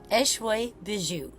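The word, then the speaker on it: Échoué Bijoux: In case you're wondering, yes, that is how you pronounce it. Eshway Bijoux. It's French for washed ashore jewelry.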